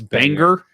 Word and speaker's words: Bangor: was a guy from it's banger Banger yeah like the song's a banger yes well Julie the